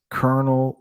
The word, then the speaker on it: colonel: I think that among the shortest words, squirrel, literally, ironic, iron, irregardless, colonel, lieutenant, disinterested would be at the top of the hardest pronunciation.